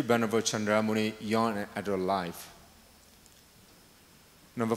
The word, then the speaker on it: Chandra Muni: So in the Burmese Pali, the way in Burmese we pronounce Sandara Muni, but let me pronounce in the somewhat international sense, Chandra Muni, in Sanskrit sense.